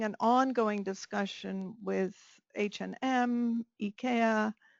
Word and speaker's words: IKEA: We're having an ongoing discussion with H&M, IKEA. It's not IKEA, it's IKEA. I've just been in Sweden, so I've learned that I've been saying it wrong all along.